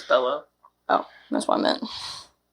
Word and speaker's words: Bello: The next year he appeared in the drama Beautiful Boy with Michael Sheen and Maria Bellow, whatever, however you say it. It's Bellow.